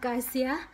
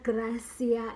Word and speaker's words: Garcia: handlers shin from Isabella Garcia and when I was watching the vlog I realized that I was pronouncing I said Isabella Gracia instead of course yeah I was pronouncing it wrong and that's not good